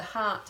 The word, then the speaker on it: heart: got around your body it's spelt in this way H EA R T so that's actually saying an R sound but we're using this EA R so this is also